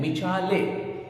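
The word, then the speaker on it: Michelet: का जो टर्म है मचाले एम आई सी एच ई एल ई T okay T silent रहेगा ओके तो मचाले ही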